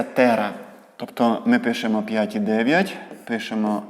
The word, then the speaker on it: тера: нас 12 ноликів це великий велика літера Т читається Тера Тобто ми Пишемо 5,9 Пишемо велику літеру т